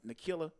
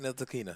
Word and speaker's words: Ntilikina: Nikila. I'm saying his name wrong. Frank Ntilikina.